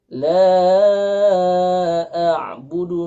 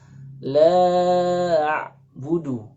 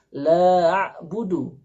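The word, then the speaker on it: لَا أَعْبُدُ: Ini biasanya kita akan temukan di masyarakat membaca la a'budu, ya, ain terlebih dahulu baru hamzah. Nah, ini karena biasanya melihat ada huruf ain, dan ain ini agak sedikit sulit diucapkan oleh lisan orang Indonesia, maka biasanya dia lebih dahulu mengucapkan ain baru hamzah, sehingga la a'budu. Nah, ini salah, ya.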